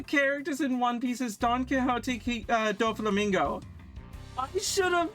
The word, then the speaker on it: Don Quixote: Also, if you're still having trouble pronouncing their names, it's Don Quixote.